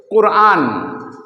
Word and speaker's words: কুরআন: আমরা আমাদের ধর্মগ্রন্থ বা গাইড বুকের নাম জানি কোরআন অনেকে বলে কোরআন অনেকে বলে কোরআন তাহলে আসল